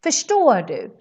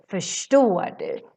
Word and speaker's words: förstår du: No, förstår du. Because we have RS next to each other. Shh, förstår du. Perfect. Remember this. Always when you see RS, you pronounce it as shh.